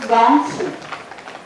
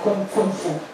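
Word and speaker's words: gōngfu: nel termine ad esempio Gongfu. Kung Fu è come noi malamente, cioè sarebbe la giusta pronuncia di quello che noi malamente chiamiamo Kung Fu.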